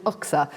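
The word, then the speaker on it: UKHSA: of course, is that we all pronounce it UCSA. I don't make the rules, that's just how we pronounce it.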